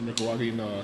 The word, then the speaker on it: Nicaragua: It's a Nicaraguan cigar.